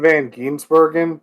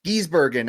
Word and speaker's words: van Gisbergen: I don't butcher this Shane Van gisbergen is that how you say it Armani I have no idea it's Shane Van guren but I've heard it both way Gees Bergen I like that a little bit more there's going to be